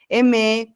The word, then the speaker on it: aimer: Esa ER final no se pronuncia. Aimer, cuisiner, travailler.